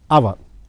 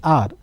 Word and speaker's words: hour: H silent honorable Judge our see see that m mayank is B see 157 km/ hour hour I just call it as hour not hour where H is kept as silent when H is kept